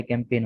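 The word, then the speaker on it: campaign: वो कैंप होता है, कैंपेन होता है। जी साइलेंट है।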